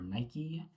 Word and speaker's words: Nike: Portland, I think, is actually run by Nike or Nike, however you want to pronounce that thing.